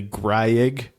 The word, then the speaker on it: Greig: drafted and turns out his name is like pronounce rightly Greig and we've just been saying it like this entire time if he pronounces it that way I'm gonna pronounce it Ridley Greg for the rest of his career out of